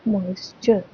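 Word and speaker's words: moisture: टी ई आर ई जो टी ई आर ई एक word एक शब्द आपके पास दिखे तो आपको साउंड निकालना है च मॉक इज च मॉइस्चर मॉइस्चर मतलब वाटर वेफर्स इन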